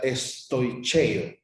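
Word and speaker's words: στοιχεῖα: más elementales, es una palabra griega que se pronuncia estoicheo, que se refiere a principios rudimentarios, a lo básico, se refiere al ABC, a los elementos más básicos de la doctrina.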